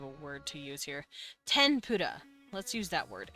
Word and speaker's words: tempura: Tempura. Let's use that word. It's technically an M sound. Tempura, but like they really spell it with an N like this.